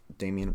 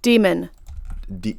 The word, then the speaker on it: daemon: yes okay so um Damien which is not what it's called okay how do you pronounce this I don't want to I don't wanna keep pronouncing it wrong demon demon okay I'm gonna pronounce it demon then or daemon this basically